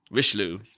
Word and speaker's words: Richelieu: the play was about Cardinal Richelieu or Richelieu I'm a loser I pronounce that sorry rish loo so in the author's